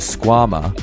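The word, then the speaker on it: Skwama: for you Thrill Seekers the Squam rhymes with your mama is a high performance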